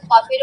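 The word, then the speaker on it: ك: পাকা মধ্যখানটা একটু প্যাচানো দেখা যায় তাই না কাফের মধ্যখানটা একটু প্যাচানো তাই না হ্যাঁ হ্যাঁ হ্যাঁ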